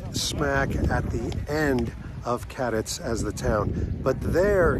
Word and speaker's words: Cádiz: I was saying Cádiz, but it's Cádiz by the local.